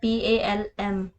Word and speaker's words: palm: For example देखो यहाँ पे स्पेलिंग है PALM। ओके, लेकिन इसमें जो L लेटर है वो साइलेंट रहेगा इन सभी वर्ड्स में।